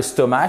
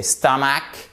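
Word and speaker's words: stomach: attention à la prononciation c'est pas le stomat c'est star Mack et là c'est soit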